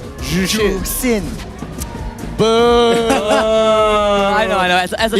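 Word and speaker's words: Zhuxin: Jushin. It's not Jushin. Jusin.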